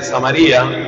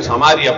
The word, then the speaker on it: Samaria: pasó un hombre que era de samaría o samaria pronuncia sean otros un hombre que era